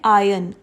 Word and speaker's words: iron: बट अगर हमें ये प्रेस के कंटेक्स्ट में यूज़ करना है वर्ड, तो हम आयरन नहीं बोलेंगे, हम बोलेंगे आयन. आर is silent air. जो र की साउंड है वो साइलेंट है यहाँ पे, तो इसे हम आयरन नहीं बल्कि आयन बोलेंगे.